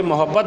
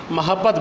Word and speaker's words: محبت: آپ کو بتا دوں، یہ محبت نہیں پڑھنا اس لفظ کو، محبت میم کے اوپر زبر ہے، تو ہمیشہ جو صحیح تلفظ گرامر کا ہے وہ ادا کیا کریں، محبت پڑھا کریں، تو گوگے